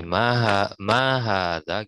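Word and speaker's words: ما هذا: Jadi ma hadza gitu cara bacanya. Dia panjang di ma, panjang di ha, panjang di za.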